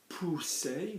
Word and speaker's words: pousser: So if my verb were pousser, notice I'm saying OU, not you, so pousser, like a monkey, pousser. Double S as well in French gives me a S like a snake.